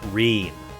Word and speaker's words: Reen: Oh, Reen rhymes with clean.